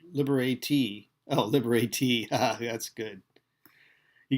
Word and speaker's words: liberate: It's pronounced liberatee.